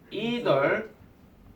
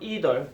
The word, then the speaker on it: either: 저 미국식 발음 either, 영국식 발음 either.